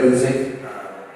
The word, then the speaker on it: Guzik: I'm Guzik, rhymes with music.